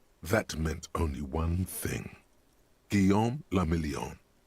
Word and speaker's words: Guillaume le Million: Guillaume le Million. So what does that mean? If it doesn't rhyme, you're not pronouncing it right.